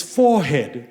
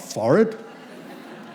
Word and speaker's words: forehead: It's forehead, not forehead.